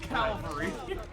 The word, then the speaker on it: cavalry: literally cavalry. Okay, it's pronounced cavalry. Just want to point that out. I have a question for you. Calvary was where Jesus died. Yeah, that's the name of the hill.